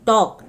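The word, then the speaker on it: talk: L silent होता है टॉक टॉक में भी एल साइलेंट होता है गैस कैन बी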